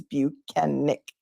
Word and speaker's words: Bukhenik: Michael Proctor number two he taught us how to pronounce his name and it is buenik good morning Nina from